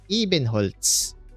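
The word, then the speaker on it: Ebenholz: e hols here we go click e hols pronounce ween hols in German Eben hols even Holtz that's your name j his parents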